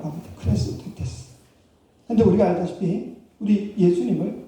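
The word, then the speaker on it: χρηστότης: 근데 재미있는 것은 이 친절, 이 자비라는 단어가 헬라어로 보면요, 크레스토테스라고 합니다. 크레스토테스. 근데 우리가 알다시피 우리 예수님을, 그리스도를 크리스토스라고 하죠. 근데 크리스토테스, 크리스토스, 이 발음이 비슷하다 보니까 세상 사람들이 이걸 잘 구분을 못했습니다.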